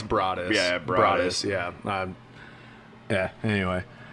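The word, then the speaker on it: Broaddus: Derek and Maria Brodus. Yeah, it's weird. Yeah. I thought of all different ways to say that shit until I figured it out. It's Brodus.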